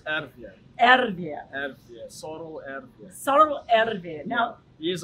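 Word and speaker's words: Sarel Erwee: He said, you've got to say it through your mustache.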